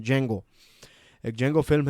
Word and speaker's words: Django: वो आपको गुलाम बनाकर, अगर आपने एक फ़िल्म देखी है, जेंगो इसका नाम है, DJANGO ऐसा उसका स्पेलिंग है, उसको प्रोनाउंस करते हैं जेंगो।